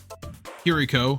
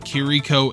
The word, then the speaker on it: Chirico: Chirico, whose name is pronounced both Chirico and Chirico in this show, sometimes even from scene to scene, it's kinda weird, is a very stoic 80s protagonist.